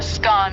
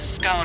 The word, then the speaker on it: scone: the pronunciation of scone both scone rhyming with gone and scone rhyming with bone are accepted pronunciations though Regional variations exist